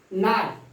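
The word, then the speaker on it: knot: अगर के आ जाता है तो के का प्रोनाउंसिएशन नहीं होता है। आपका यह है नाइफ, नी, नो, नाट।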